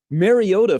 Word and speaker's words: Mariota: Mariota for the first time went with a hard T. Okay, so I Mariota.